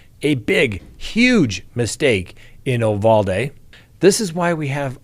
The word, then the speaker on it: Uvalde: That's the Spanish pronunciation. That's right. I've got this from reliable sources. It's pronounced Uvalde.